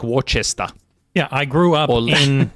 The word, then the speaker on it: Worcester: But it's not It's It's sort of like It's sort of like Worcester. Yeah, I grew up in New England and so Worcester Worcester, Massachusetts, everyone says Worcester when they're not from Massachusetts.